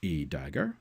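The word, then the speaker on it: a†: And this one's pronounced a dagger, so this symbol here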